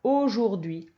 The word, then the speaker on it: aujourd'hui: Et puis, il y a un H muet. Voilà, aujourd'hui.